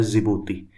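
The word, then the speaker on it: Djibouti: इसमें ये सोमालिया है, ये आप इथोपिया मान लो, ये इरिट्रिया और ये होता है जिबूती जिसका डी साइलेंट होता है।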